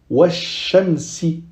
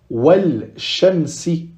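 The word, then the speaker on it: وَالشَّمْسِ: Pareil pour wash-shamsi. Ici, on ne dira pas wal-shamsi. Non, on dira wash-shamsi.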